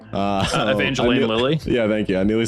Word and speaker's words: Evangeline Lilly: Evangelion. How do you say her name? Evangeline Lilly.